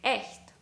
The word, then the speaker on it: echt: It can also be pronounced as Ä, as in echt or etwas, for example.